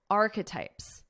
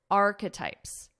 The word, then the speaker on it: archetypes: Spotify confirmed it was not renewing Meghan's podcast, Archetypes. Listen to my pronunciation here. Archetypes. There are three sounds. We have arc, k. This ends on a K sound.